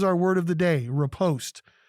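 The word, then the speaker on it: riposte: word of the day repost it is from the french it's r-i-p-o-s-t-e two syllables the definition that we're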